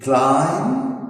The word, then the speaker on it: climb: Climb, we say climb, no B. Calm, det, lamb, plumber, and the last one, thumb. We write the B, but we never pronounce or speak.